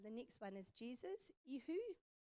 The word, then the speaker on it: ihu: The next one is Jesus, ihu, ihu.